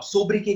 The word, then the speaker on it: sobriquet: This is how you pronounce it. Fine. अब सोब्रिके का मतलब क्या होता है?